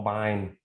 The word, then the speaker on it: Bine: Paul Bine rhymes with fine.